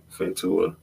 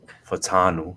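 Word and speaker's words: Fautanu: draft you Troy funa I already say his name fenta um from Washington Troy yeah fanu that's how you okay Troy fanu um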